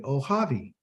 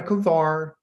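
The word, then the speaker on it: אוהבי: O, ha, havi, ohavi. Okay? Ohavi. Not a kavar, not a kavor, it's a ohavi.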